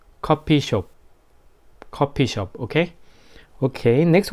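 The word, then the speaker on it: 커피숍: that word like rent coffee shop but pronunciation is not coffee shop we called it copy shop copy shop ok ok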